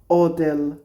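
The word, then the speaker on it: hotel: জিলাতো Italia Italia হোটেল এই কিছুটা উচ্চ থাকে মানে ইতালিয়ানরা এইচ আক্কা বলে তো যখন হোটেল বলে তো তাদের প্রোনাউন্সিয়েশন কিছুটা এরকম আসে ও তেল রোজা গোলাপ ফুল ট্যাক্সি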